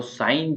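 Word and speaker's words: sign: इसको बोलेंगे ऑनेस्ट तो साइन जो है उसके उसका मतलब होता है संकेत या संकेत देना किसी को तो साइन के अंदर जी साइलेंट एच ऑनेस्ट ऑनेस्ट के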